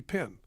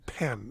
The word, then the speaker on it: Penn: did he call me pin right every single time pin I said it's actually pen it's a different word than pin it's Pam and he